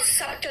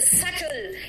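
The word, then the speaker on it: subtle: This is नॉट सल। इट इज सटल यानी not noticeable.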